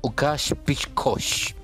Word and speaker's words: Łukasz Piszko: Creo que esa letra del principio es una L, pero no se pronuncia. Y ese Z suena como sh chiquito. Y el RZ suena como sh grandote. Y la K suena como sh también.